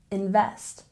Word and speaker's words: invest: let's look over here stress on the second syllable invest invest and lastly we we